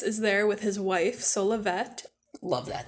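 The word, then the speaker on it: Solovet: Just a side note, I pronounce all of the names in this book like how the audiobooks pronounce them, so I say Solavet with a T sound at the end, but I know some people pronounce it Solave, like it's French or something. But my reasoning is that if we are pronouncing Dulcet with the et on the end, we should also be pronouncing et on the end of Solavet.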